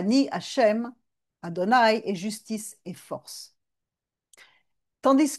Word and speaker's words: Adonaï: Quand on le voit écrit, on le on ne prononce pas le nom sacré mais on le prononce Adonaï.